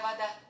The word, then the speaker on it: вода: Моя вода. Моя вода. Моя вода, my water. Possessive pronoun my in the feminine. Вода, mind the pronunciation. An unstressed syllable O is pronounced as A.